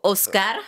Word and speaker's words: Oscar: And it's pronounced like the Latin way when my parents Oscar. Oh, Oscar.